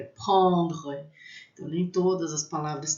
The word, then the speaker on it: prendre: falava para mim, olha, raspa a garganta, é uma palavra forte, que a gente não faz bico, é prendre.